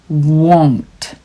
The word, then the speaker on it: won't: 이 won't는 정말 발음하기 어려워요. won't. 이게 바람을 내뿜는 것 같지만 들어가는 발음이에요. won't.